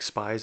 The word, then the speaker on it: Spies: So his last name is spelled like spies, Spies. But I do know that in German language, if there's an IE like that, it's pronounced, so his name would be pronounced Spies.